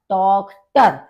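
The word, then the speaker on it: Tochter: अब यहां पर भी आपने देखा होगा ओ वॉवेल है, उसके बाद सी एच आपका आया है, तो ये आपका खा का प्रोनाउंसिएशन होगा, तो आपका हो जाएगा टॉक्टर यानी कि डॉटर।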